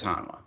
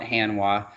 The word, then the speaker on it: Hanwha: booth we'll go to hanwha so who is hanwha now i just got a text message right